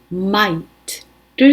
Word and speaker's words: might: 있는 거예요 그럴 때는 might를 씁니다 gh 발음이 안납니다 그래서 it might be